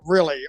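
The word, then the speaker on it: Riehle: pronounce this is a lot of people really pronounces it really r-i-e-h-le M okay yeah really yeah uh he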